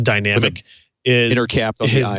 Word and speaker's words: DynamIQ: The interesting thing about what ARM announced this week, the DynamIQ, which is spelled DYNAMIQ, but pronounced dynamic, is intercapped on the I and the Q.